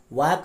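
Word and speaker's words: walk: में blue silent है वॉक में ल साइलेंट वाट में टहलना होल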